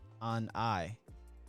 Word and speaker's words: Anae: They said it's pronounced Anae.